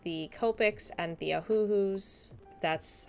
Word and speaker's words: Ohuhu: my alcohol-based markers like the Copics and the Ohuhus.